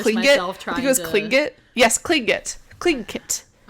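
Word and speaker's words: Tlingit: According to this website, it's pronounced clinkit. Okay. And haida. The clinkit and the haida both showed off status using totem bowls.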